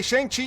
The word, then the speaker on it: Shang-Chi: their kung fu hey shang chi even rhymes with bruce lee yeah it does it's the correct syllables so that's him that's